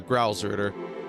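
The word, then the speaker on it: Gralsritter: Am I pronouncing right? Growl? Yeah, Growlritter.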